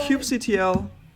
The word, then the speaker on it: kubectl: kubectl Okay. command should be working. So kubectl, let's see. Cube starts with a K. Cube. Kubectl. Did not know how to pronounce that yesterday.